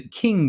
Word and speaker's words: Qing: and they established the King Dynasty uh it's it's spelled with a Q there but it's pronounced like king with a k um the King Dynasty